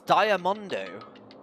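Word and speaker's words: ダイアモンド: very quick grab it the names together is diamondo the Japanese pronunciation of diamond oh that's cool it's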